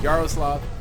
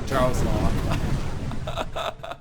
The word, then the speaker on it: Yaroslav: It's Yaroslav, not Jaroslav. I'm not trying to be ignorant.